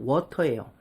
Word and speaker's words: water: 이렇게 T가 유마 되는 것 중 우리가 가장 많이 보는 게 바로 water예요. water라고 발음해도 됩니다. 근데 불편하니까 water 이렇게 많이 발음하잖아요. T를 리을로 바꿔버린 거예요.